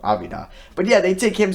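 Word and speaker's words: Avdija: D huh okay or avi de la vida I think that's actually how you pronounce his name Evita but yeah they take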